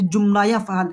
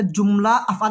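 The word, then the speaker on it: جملة أفعال: কিন্তু অনেকে এটাকে জুমলায়েই পড়ে। মানে জুমলায়ে আফাল। কিন্তু না এটা জুমলা আফাল হবে না। এটা জুমলা আফআল হবে।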